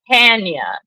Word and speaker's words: Tanya: Well, what I did was when Only Tanya, it's actually pronounced Tanya, like as in I'm laying out for a tan.